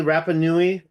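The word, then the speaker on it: Rapa Nui: here goes to am I saying it correctly rapanui or Easter Island yep and this ancient equator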